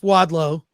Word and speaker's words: Wadlow: And hopefully I don't mispronounce his name when he joins us. Jeff Wadlow is going to be joining us today.